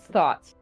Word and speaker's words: Thoth: So the actual pronunciation that Thoth could have been was thought.